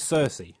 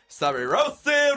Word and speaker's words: Saoirse: I think her name is Cersei. Cersei Ronan. Cersei. But it's spelled Saoirse.